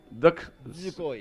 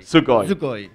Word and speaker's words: Dosukoi: Recuerda que la U no se pronuncia. Perdón. Dosukoi. Dosukoi.